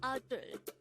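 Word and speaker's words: 아들: The Korean term for a son or a male child is adul. Again, it's adul. This is pronounced as a two-syllable word. The first syllable is a, the second syllable is dul.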